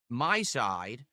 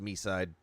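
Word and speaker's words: MiSide: My side. Meside. Actually, it's not called My Side. It's actually pronounced Meside.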